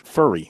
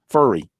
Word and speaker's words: Furry: And by the way, it's pronounced Coach Furry, not Fury. No. Furry. That's good. That's good to know. Furry? Yeah. Furry. No, Like an animal's furry?